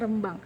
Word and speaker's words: Rembang: Pengucapannya namanya Rembang.